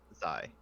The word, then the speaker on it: Zai: Or is it Zia? Is that how it's pronounced? Zai.